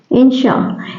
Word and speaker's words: inertia: हैं लॉ ऑफ इनर्टिया generally इसको हम लोग इनर्स प्रोनाउंस करते हैं लेकिन इसका सही प्रोनंसिएशन होता है इन श इस तरह से इंशा इंशा मींस होता है